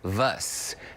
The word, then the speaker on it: mischievous: COURTNEY: LOOK AT THE SPELLING. IT IS VOUS. MISCHIEVOUS. THERE IS NO V. IT IS VOUS.